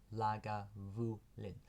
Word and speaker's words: Lagavulin: founded the first legal Distillery here at lagavulin pronounced lag Vu Lin sorry vulin apologies there was no dash between